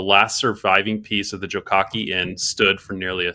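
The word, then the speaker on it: Jokake: I'm gonna start with and I looked at the pronunciation here. Jokaki Inn.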